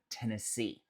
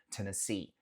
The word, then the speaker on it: Tennessee: Nota que o som dos E's nesse estado varia. Então no começo fala T, T, T, T. O segundo E se fala um N, Tennessee, Tennessee. E os dois últimos E's se fala C, Tennessee, Tennessee.